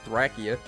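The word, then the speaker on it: Thracia: saying say the line thrackia i mean that's the name of the game right if you're looking at the japanese pronunciation it's thrakia it's not really any ifs ands or buts about that lopez 73 saying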